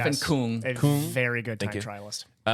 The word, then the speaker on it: Stefan Küng: Stefan Küng.